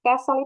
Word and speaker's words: castle: Castle itu castle. Kalau kita lihat tuh castle ya bacanya, tapi bacanya tuh T-nya itu hilang. Jadi castle, istana.